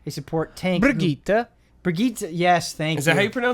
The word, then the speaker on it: Brigitte: they added a character called Bridget, a support tank. Brigitte, yes, thank you. Is that how you pronounce it?